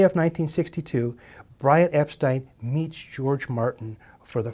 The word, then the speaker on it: Epstein: Brian Epstein came from, by the way, the pronunciation of his name, he preferred Brian Epstein. And would correct people early on when they said Epstein, but then he just got tired of it. And so everybody sort of knows him as Epstein, although he would have preferred the pronunciation Epstein, according to people who